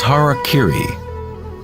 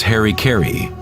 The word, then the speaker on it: harakiri: suicide or seppuku was harakiri was often mispronounced as Harry Caray it means to impale